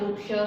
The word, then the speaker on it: वृक्षः: For example, if आई am writing वृक्षः, सो विसर्ग के पहले यहाँ पर वॉवेल है अ, इट मीन्स इसका प्रोनाउंसिएशन होगा वृक्षः।